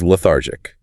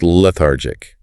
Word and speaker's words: lethargic: Let's say you walk into the room and the patient is lethargic. Pronounced le-thar-gic. The stress is on the second syllable, thar, lethargic.